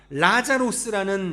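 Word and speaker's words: Λάζαρος: 이 나사로가 라자로스라는 이 헬라어 발음이거든요.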